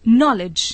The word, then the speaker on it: knowledge: KNOWLEDGE नॉलेज, ज्ञान। आपने देखा कि इन शब्दों के प्रथम अक्षर का शब्द में उच्चारण नहीं होता।